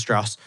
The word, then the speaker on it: Strauss: says it in the movie he's like it's pronounced Strauss oh that was the part where I was